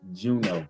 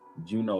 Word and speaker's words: Juneau: It's pronounced Juneau. It's Juneau. Juneau, Alaska.